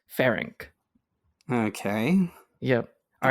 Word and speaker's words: Ferenc: You kind of did, but you said Frank, and it's Ferenc.